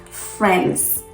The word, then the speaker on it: friends: not it's not because there is a letter that is not pronounced and many many people